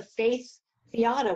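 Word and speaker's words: Faeth Fiada: And you call it, it's pronounced the Faith Fiata, which I actually thought, what a royal joke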